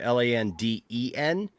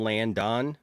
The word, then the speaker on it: Landen: Landon, he spells his name Landen, and everybody wants to call him Landon.